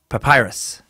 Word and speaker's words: papyrus: And she put papyrus, like Russia without the second S and C. So papyrus.